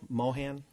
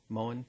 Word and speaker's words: Moen: okay is um kyle mohan did i pronounce it correctly moen yes is he working on